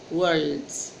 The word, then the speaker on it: world's: I didn't hear the L. The world's. Don't pronounce the R, but you have to pronounce the L. عادي ما تطقش ال R. لكن مش عادي ما تطقش ال L. So you say world's.